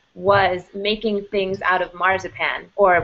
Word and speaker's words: marzipan: making things out of marzipan or what they called march pain which was the way the english pronounced the word marzipan which is a german